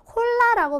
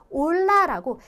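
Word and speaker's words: hola: 얘 같은 경우에는 우리가 그래서 홀라라고 발음하시면 안 되고요. 올라라고 얘를 없애고, 그쵸? 그래서 이 아체가 없다고 생각하시고 발음을 하시면 되는 거예요.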